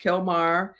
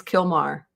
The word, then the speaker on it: Kilmar: I think you added a syllable. I think it's Kilmar.